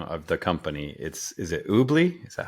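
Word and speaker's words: Oobli: And so I think and how do you pronounce the name of the company? Is it Oobly?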